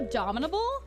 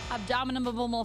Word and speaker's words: abominable: Wait, it's not abdominable? It's the abdominal snowman? Abominable snowman. It's abominable.